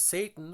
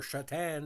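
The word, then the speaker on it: Šatan: hind can we have Satan or shatan as he pronounce it some goalies back in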